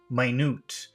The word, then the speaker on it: minute: But the very same spelling pronounced differently. Minute means very small.